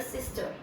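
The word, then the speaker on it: 先生: Normally हम दूसरे तरीका का यूज करते हैं जिसका मतलब है ई आई ए। जैसे आप देखते होंगे सेंसे में, सेंसे, से, सेंसे, ठीक है। मोस्टली हम लोग यही यूज करते हैं। ज्यादातर वर्ड्स आपको ऐसे ही मिलेंगे। तो इसकी साउंड होती है सेंसे।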